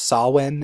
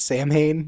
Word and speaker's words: Samhain: did you also know it's actually pronounced saw when and not Samhain yes I did there